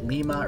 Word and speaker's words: limma: the most popular microarray lima or lima i've heard to pronounce both ways that is a package